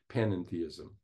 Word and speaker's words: panentheism: I am a pan-en-theist. There's one additional syllable in there, an en, between pan and theist, panentheism.